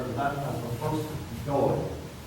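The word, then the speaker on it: Dáil: Dublin, and we now just refer to that as the first Doyle. Doyle, that's an Irish word, it's a Gaelic word, spelled D-A-I-L. Not to be confused with the Irish surname, D-O-Y-L-E, very simple pronunciation.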